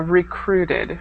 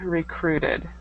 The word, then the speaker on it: recruited: this word here uh recruited recruited recruited okay so make sure to pronounce that Ed ending um so you know it's in the past um you can continue